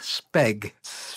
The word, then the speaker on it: Speg: Art Speg. S-P-E-G, because it was a one-syllable name.